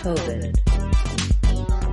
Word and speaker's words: COVID: The stress in COVID falls on the first syllable, co. It has the clear vowel O and is held longer. COVID. The second syllable has the reduced I vowel and is shorter in duration than the first syllable. COVID. Americans use an unreleased D in this word.